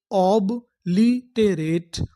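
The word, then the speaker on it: obliterate: ऑबलिटेरेट, ऑब्लिटेरेट, ऑब्लिटेरेट।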